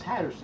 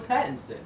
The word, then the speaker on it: Pattinson: I thought it was because Patterson. when they had his name. No, it's Pattinson. Yeah, because there's no R in it.